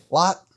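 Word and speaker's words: Lätt: Lot? Yep. Like he throws a lot of discs.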